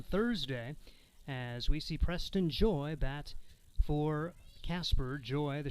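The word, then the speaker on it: Joye: count on preston joy it's spelled j-o-y-e but pronounced joy 3-0 delivery on the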